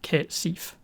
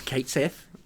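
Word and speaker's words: Cait Sith: for uh she because i called them kate seif no that's wrong i'm sorry i looked it up that's how you pronounce it i don't care it's wrong it's it's kate sith i'm sorry i will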